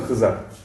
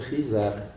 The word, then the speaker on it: Хизар: Тем не менее, почему у тебя в Фейсбуке написано Хызар? Ну, правильно, имя произносится Хизар. Хизар. А чеченцы тебя тоже называют Хызар? Нет, Хизар называют. Хизар называют. Хызар. Да, Хизар.